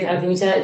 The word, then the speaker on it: Artemisia: que me gusta mucho que es artemisia se pronuncia así sí artemisia gentiles italiano no sé vale Y es que